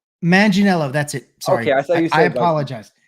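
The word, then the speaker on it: Manganiello: guy um he does the death oh Joe manello manginello that's it sorry I apologize I saying totally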